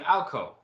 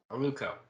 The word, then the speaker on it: Aluco: And we have Owl's name Alco. Did I say that right? Aluko. Aluco. Yeah, like Luke with 2 extra syllables on either side of it.